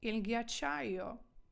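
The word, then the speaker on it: ghiacciaio: Ака і іл а ч йо Тому ільгячайо ільгячайо це означає льодовик ільгячайо ось це говориться ільгячайо наступне я слухаю це читається як з зг няцаре згиняцаре з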